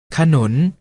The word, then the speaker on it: ขนุน: เสียง ว่า ฉาก หลาม ขนุน ออก เสียง ว่า ขนน เอา เมล็ด ออก เสียง